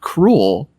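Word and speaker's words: K. Rool: they will not get that k-rool's name is like cruel so we'll just say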